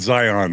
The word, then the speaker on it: Zion: You know it's Zion, not Zion, right?